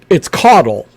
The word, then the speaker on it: Caudle: It's Caudle. But it's like candle, but you turn the N over, make a U out of it. Okay. So Caudle. Caudle, yeah. Caudle. Perfect. So Richard Caudle, everybody.